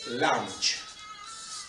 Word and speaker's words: lunge: o un paso lateral se escribe lunge y se dice lancha de acuerdo que voy